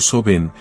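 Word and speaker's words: Samhain: años esta celebración nació en un festival llamado samain pronunciado soen un evento central en el calendario Celta que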